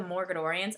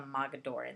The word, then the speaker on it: Mogadorians: did the Morgadorians, and I know I'm saying that wrong because I know it's spelled Moga, yeah, Ga something, I don't know, but I always put an extra R in there, so I always pronounce it Morgadorians when I read it.